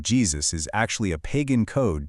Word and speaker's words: Jesus: And honestly, it wasn't until the 17th century in English when the letter J finally acquired its distinct hard consonant sound that we arrived at the modern pronunciation, Jesus.